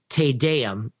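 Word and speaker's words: Te Deum: of John Nicholson Ireland's 1917 liturgical piece called tadayam it's spelled t e space d-e-u-m and the first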